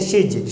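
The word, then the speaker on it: she's: है शी is calling, यानी शिज बोलना है इसे शिज, शहद जो दुए वाला उसकी छोटी मात्रा रहेगी, ओके।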